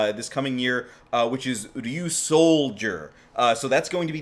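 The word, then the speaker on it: Ryusoulger: Well, pronounced like soldier, but Ryu Soul, well, all together, Ryu Soldier.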